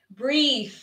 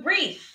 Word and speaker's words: breathe: And our first verb is to breathe. Breathe. Now, I really want you to practice this because we have the TH sound. Breathe. Breathe with the TH. I'm exaggerating for you to see my tongue.